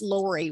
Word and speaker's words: Laurie: the the spelling and pronunciation of my name is uh it's lori which is an american pronunciation in australia the spelling